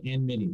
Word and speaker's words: enmity: I would always put the M before the N, and I couldn't get it right. I remember I kept going back to Google to find out how this thing is pronounced, and then now I have to in my brain just go capital N Mitty, almost like he's his own character, Enmity, you know.